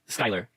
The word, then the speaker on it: Skylar: Oh, and I know it's pronounced Skylar, so please stop killing me.